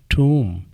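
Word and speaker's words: tomb: इसी तरह टी ओ एम बी इसमें आखिर का बी साइलेंट है और ओ को डबल ओ पढ़ा जाएगा टूम।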